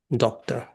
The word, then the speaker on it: doctor: We have two syllables here. A doc doctor. But many people may say we don't have to stress the syllable to o but we have to stress the syllable doc.